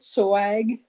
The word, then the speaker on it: SOAG: Is that how you pronounce it? SOAG?